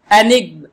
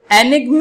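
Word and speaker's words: enigma: अगला वर्ड देखते हैं हम, एनिग्म। एनिग्म इसका रियल प्रोनाउंसिएशन है, हमारे हिसाब से एनिग्मा होना चाहिए, लेकिन इसका जब डिक्शनरी में प्रोनाउंसिएशन चेक किया गया तो वो एनिग्म है।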